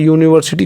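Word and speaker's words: university: यहाँ पे यूनिवर्सिटी जो है यू से स्टार्ट है, लेकिन अगर हम हिंदी में प्रोनाउंसिएशन करें तो यूनिवर्सिटी यो से होता है। किससे होता है? यू, यानी कि यो पे बड़ा मात्रा यूनिवर्सिटी।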